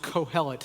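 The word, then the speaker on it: Qohelet: In Hebrew, his name is pronounced cohellet spelled with a q quo h e l e t.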